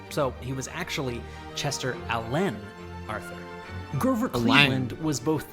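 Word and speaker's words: Alan: Chester Allen Arthur chose to pronounce his middle name with the emphasis on the second syllable. So he was actually Chester Alen Arthur.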